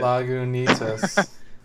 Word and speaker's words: Lagunitas: I read right there on the bottom, and it tells you how to pronounce it. Lagunitas.